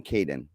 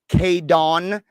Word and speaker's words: Caydon: I wanted the most generic names they will not be embarrassed of, but for some reason I chose to spell it Caydon. Oh wow. And now every time they're like K-Don.